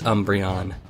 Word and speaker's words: Umbreon: the correct pronunciation is Umbreon that's how it's pronounced in the anime how it's pronounced in